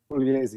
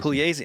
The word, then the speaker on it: Pugliese: The GLI in Italian is pronounced kind of like a Y, like a Y sound. Ye, yeah. Pugliese? Pugliese, yeah. Pugliese.